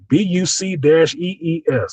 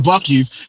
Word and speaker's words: Buc-ee's: BUC-EES. That is country as hell spelling. No K. Yep. Just a Buc-ee's. On the bucket. You gotta say it like funny. Southern with some Southern twang.